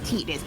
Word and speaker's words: Titus: and Y his name's tetus I am not calling him titties that's fine you could just call him tittis no I I know it's Titus but I hated that pronunciation it's like I'm not